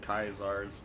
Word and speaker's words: Caesar: It was some sort of story I was reading where they were saying that they think the Caesars were actually called Kaisars. That's how they're pronounced over the hard C.